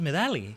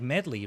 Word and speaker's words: Medali: This is Medali. Kind of sounds like medley, right? Oh, medley? Are you supposed to say it like that? Medali, I've been saying.